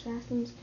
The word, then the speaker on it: fastens: word is fastens. What word? Fastens. Nope. No. Try again. Fastens. Say it. Fastens. No. The word is fastens. Fastens. Fastens. Yep. So the T is silent.